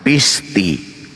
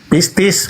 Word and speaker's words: pistis: maka dia akan diselamatkan pisti pistis bukan Pis salah Sekolah di mana anda